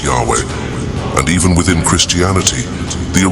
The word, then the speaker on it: Yahweh: and 10th centuries ad removed the original vowels from the tetragramaton replacing them with those of adoni leading to the incorrect pronunciation Jehovah does this mean that